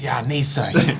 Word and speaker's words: Yanessa: I love names that are strange, but also you know exactly how it's how to say it when you read it.